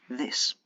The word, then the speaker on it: this: These is pronounced with a long E sound and a Z, whereas this is pronounced more like E accent aigu with an S sound at the end, this.